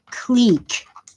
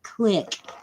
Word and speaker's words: clique: exclusive only the best people get in it's c-l-i-q-u-e and it's pronounced clique and their even on the news where they're supposed to be college educated they call it quick and they can't spell it right either they